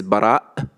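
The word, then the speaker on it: Baraa: call hamza in arabic for example my name is bara this doesn't really it's not easy for non-arabic speakers to to pronounce the glottic stop so this is kind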